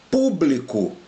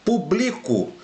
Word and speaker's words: público: Público, né? Olha aqui a diferença. Publico. Eu publico aula todos os dias. Então aqui a sílaba tônica é o bli e nesse aqui a sílaba tônica é o pu.